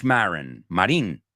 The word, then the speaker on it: Marin: Marin, you say in Spanish.